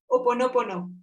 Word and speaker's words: ho'oponopono: Oponopono.